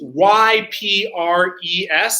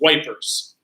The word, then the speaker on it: Ypres: to know that the British usually call this wipers. All right. Okay. And we're going to fight a series. This is actually the second time that a battle has been fought at Ypres.